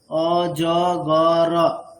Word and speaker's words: অজগর: এর দিক দিয়ে দেখলে অ জ গ র চারটে। কিন্তু আমরা ঠিক বাংলাতে যেমনটা উচ্চারণ করি, মানে অকার শেষের তো রকারের পরে যে অকারটা সেটার উচ্চারণ করি না, তাই বলছি যে উচ্চারণের